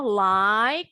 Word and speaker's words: like: Contoh like, nggak ada like, likey. Huruf E-nya nggak pernah bunyi. Jadi akhirannya nih bunyinya justru huruf K.